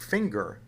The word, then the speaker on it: finger: tell you the answer when a word ends in nger and it's derived from a verb that ends in ng didn't you get a soft G like singer but when the word that ends in nger is not derived from a verb that ends in ng then you get either a hard G like finger or a kind of medium G like plunger or danger now when you get that